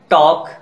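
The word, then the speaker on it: talk: Silent letter L, could, should, odd, काम, balm, palm, इन सारे words में एल लेटर साइलेंट है। कुछ और वर्ड्स को देख लीजिए, फॉक, टॉक, वॉक, काफ, हाफ, इनके प्रोनंसिएशन को सिंप्लीफाई करने के लिए एल लेटर को साइलेंट किया गया है।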